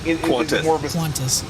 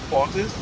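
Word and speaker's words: Qantas: right I forgot yeah is it quantis or like qutis quantis quantis yeah cuz like I heard somebody say with like a hard C I'm like I don't think you say it like that get it right you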